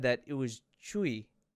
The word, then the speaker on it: Tzuyu: So crazy, because I've known her name forever, and you guys even said that it was Chui, right? You don't pronounce that Tzuyu?